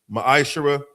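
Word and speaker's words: מעשר: Tithe, which is a commandment, book of numbers 18:1, book of Malachi 3:es 8-10 means 10 in the Hebrew is pronounced maisher.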